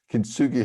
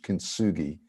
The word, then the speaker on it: kintsugi: Kintsugi Hope mental health groups are a great initiative by my friend Patrick Regan.